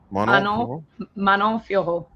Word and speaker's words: Manon Fiorot: Manon Fiorot.